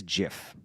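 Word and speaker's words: GIF: the correct way to pronounce this word is Jiff you can access the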